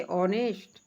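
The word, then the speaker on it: honest: ऑनेस्ट, इसमें भी एच छोड़ देंगे।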